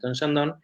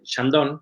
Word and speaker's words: Chandon: de champán, Moet & Chandon, se va a Argentina? Y en Argentina empiezan a producir Chandon o Chandon, como se pronuncia en Argentina.